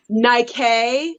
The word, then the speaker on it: Nike: It's pronounced Nike.